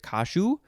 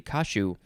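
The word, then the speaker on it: caju: one is spelled c-a-j-u i wonder if they if that actually becomes more of a shi sound so is it kashu maybe it could be kashu and then the other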